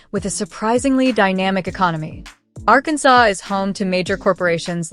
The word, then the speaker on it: Arkansas: For starters, it's legally required to pronounce the state's name as Arkansas, a rule actually enshrined in an 1881 state resolution to preserve its historical French pronunciation.